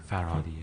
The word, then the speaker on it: Farhadi: Is that how you pronounce it? Panahi. Panahi? Oh, excuse me. Panahi. And now I guess Asghar. Farhadi.